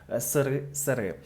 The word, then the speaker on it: СРСР: про розпад сири СРСР але правильний наголос Я думаю українця мене зрозуміють сири і також про те